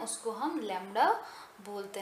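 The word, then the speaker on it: lambda: Okay, तो हम इसको प्रोनाउंस कैसे क्या करते हैं, इसका प्रोनाउंसिएशन है लैम्डा, ठीक है?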